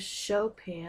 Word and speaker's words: Chopin: for Wednesday March 11th hour lesson title with Chopin and that's how you pronounce his name that's Schroder at the piano